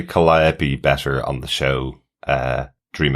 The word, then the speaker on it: Calliope: Main learning point, pronounced Calliope, not Calliope.